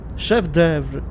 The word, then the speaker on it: chef d'œuvre: Chef d'œuvre. Chef d'œuvre. Chef d'œuvre. Chef d'œuvre. Okay. Good to know how to pronounce that.